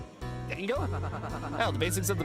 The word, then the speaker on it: dango: Dango. Cuz it rhymes with mango.